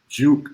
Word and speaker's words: J.U.K.: j dot u dot k dot sport show juke sports show not jukeboy sports show sports show um follow me as